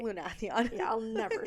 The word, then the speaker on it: Lunathion: Lunathion. Yeah, I'll never say it right. Never. I think Lunation sounds better, but Lunathion.